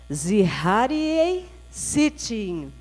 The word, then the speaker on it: Zecharia Sitchin: pronunciar todo mundo junto serrarien sitting lá fala em vocês é tá certo mais uma vez é isso então vocês perceberam que aqui esse finalzinho aqui ó é quase apagado ele quase não vai